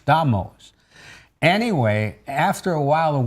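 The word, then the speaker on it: Damas: It actually is D-A-M-A'-S, pronounced Damos.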